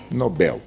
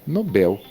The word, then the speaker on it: Nobel: Papel pronuncia-se como Nobel. Nobel, papel.